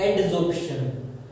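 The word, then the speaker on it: adsorption: एब्जॉर्प्शन नहीं, pronunciation पे ध्यान दो, एडजॉर्प्शन। यहाँ एब है, यहाँ एड आ जाएगा, मतलब एडी आ जाएगा, एडजॉर्प्शन।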